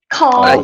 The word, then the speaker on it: Cawrl: And is that spelled like CAWRL? Carl.